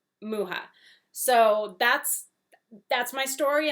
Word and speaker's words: Mucha: someone who is check how to say alphonse muha and it is alphonse muha not mucha not mucha muha so that's that's my